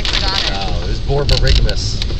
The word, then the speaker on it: borborygmus: Oh, it was borborygmus. Borborygmus? Borborygmus, spelled, I don't know if I can spell it exactly right.